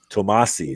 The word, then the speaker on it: Tomasi: Peter, if you are a fan of Peter Tomasi, how do you say it? Tomasi. There we go. That sounds right.